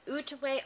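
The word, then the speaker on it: Outaouais: sheep called utway and it's spelled really funny but it is said uway arot and it's one of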